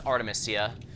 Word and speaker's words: Artemisia: from timia Alasia or how you pronounce it no oh it's Artemisia because she's based off